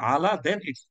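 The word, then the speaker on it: الأعلى: আমরা সুবি আলা বলছি আজকে থেকে একটু খেয়াল রাখবেন এটা আলা যেটা হচ্ছে সবকিছুর উপরে হুচ সুপারলেটিভ এটা হচ্ছে সঠিক উচ্চারণ তিন নাম্বারটা দেখেন কোরআন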